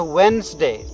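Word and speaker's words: Wednesday: इसमें आप देखेंगे कि कि उच्चारण इसका होता है वेनसडे में डीबी साइलेंट है और बेबी साइलेंट रहेगी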